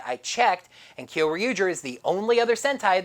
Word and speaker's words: Kyoryuger: the nickname Kyoryuger, well, a lot of people are calling it Kyotuger, but I call it Kyoryuger because the first one doesn't match the syllables.